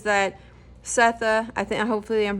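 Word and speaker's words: Sethe: Setha, I think it's Setha. It's like S-E-T-H-E is the main protagonist. I think it's pronounced Setha. I heard in an interview, but I'm not sure.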